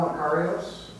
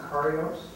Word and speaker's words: Macarios: And Macarios. did I pronounce that correctly? Perfect, thank you. Let me try that again. Macarios.